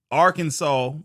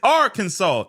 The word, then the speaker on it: Arkansas: In other words, instead of Arkansas being Arkansas like the word Kansas, nah. When you're talking about the state, it's Arkansas instead of Arkansas.